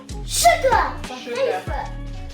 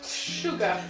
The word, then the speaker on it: sugar: Sucre, on dit Sugar. Sugar. Alors c'est un S, mais ça se prononce sugar.